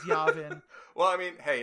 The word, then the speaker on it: Yavin: to ignore that one for saying yawin instead of Yavin okay okay it's Yavin it's Yavin well I mean hey